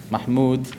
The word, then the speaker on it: Mahmud: name is uh uh Mahmud is how is how you pronounce my father's name um but I'm I'm